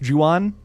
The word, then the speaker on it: Ju-on: And I think the original Grudge, like Ju-on, I think it's pronounced Ju-on, J-U-O-N.